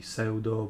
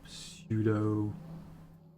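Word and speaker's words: pseudo: some people say ah you put pia p in the in the in the world and then don't pronounce it and then you don't say seldo but sudo i said so though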